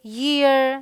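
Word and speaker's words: year: तो य देखते हैं जैसे येलो यर ध्यान रखें इसे इयर नहीं बोलते यहां पर इसका साउंड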